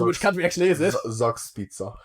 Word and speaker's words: Zugspitze: Oh, it's pronounced. Yeah, but I'm trying to throw you off. It's Zugspitze.